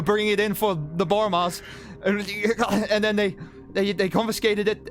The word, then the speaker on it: Boromar: You're effectively Well- saying no to the Boromir clan when you gave away our It's goods. pronounced Boromar! Sorry.